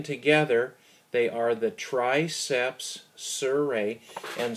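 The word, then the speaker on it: surae: they are the triceps suray and suray is spelled s r AE triceps suray triceps one one head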